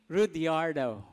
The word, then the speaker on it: Rudiardo: mahaba ang aking name Pero ah As I pronounce my name rudiardo ayyan that's my name Okay so I am